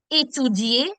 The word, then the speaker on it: étudier: Mm, étudier. Very good, Anshuman. Étudier. The letter E has the aigu accent. The sound is A. So étudier.